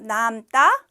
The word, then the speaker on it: 남다: 것을 넘다 이야기를 합니다 둘 다 길게 발음해야 돼요 남다 넘다 이렇게 이렇게 자 이제부터 설명 본격적으로